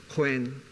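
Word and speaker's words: Khoi: with generally newspapers be spelled Corey coy that's the proper spelling and the pronunciation and I'll stay with Corey just for sake of intelligibility is Queen Queen means eminent people chauvinistic Lee it used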